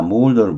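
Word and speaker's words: moulder: 자, 몰더를 보죠. 발음은 OU예요. 몰더.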